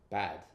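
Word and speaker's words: بد: Persian but yes so it's a little bit shorter and a little bit more emphasized so to say I'm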